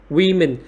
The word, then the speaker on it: women: Women, trọng âm rơi vào âm tiết thứ nhất và cái nguyên âm của âm tiết thứ nhất chúng ta sẽ gọi là y dài nhá.